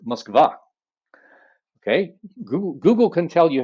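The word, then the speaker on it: Москва: to pronounce them so the ukrainians did not sink the cruiser moskva they sank the cruiser muskva okay google can tell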